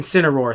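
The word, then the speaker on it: Zeraora: we have a Pokemon who I still can't pronounce sooner are in sin Aurora thank you because I haven't played whatever Jen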